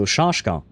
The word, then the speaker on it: Shashka: So, it Okay, so it's not an S sound, it's a sh sound. Okay, so shashka.